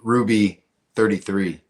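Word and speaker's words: Thruby: Uh TT Ruby33. Yeah. For those who are not seeing the name, it's silent H in front of Ruby. Silh. T H R U B Y.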